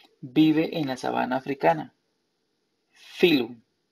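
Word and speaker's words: phylum: Filum. Filum se escribe pilum. P-H-Y-L-U-M. Filum.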